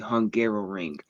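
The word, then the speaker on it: Hungaroring: don't know the name, it is called the Hungarrow Ring. It So, it does sound like I was just mispronouncing Hungary trying to say it a second time.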